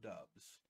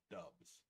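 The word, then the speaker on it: Doubs: going everywhere with romeo dubs and yes i made sure that was the correct pronunciation of his name dubs yeah this kid this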